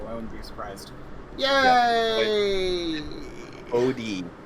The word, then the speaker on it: Bodhi: Bodhi. Like you skip the H.